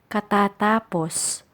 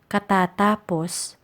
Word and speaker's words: matapos: words related to tapos please note that the stress is on the highlighted syllables the first one is matapos matapos which means to be